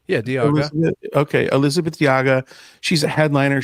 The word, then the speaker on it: Diaga: Yeah, Diaga.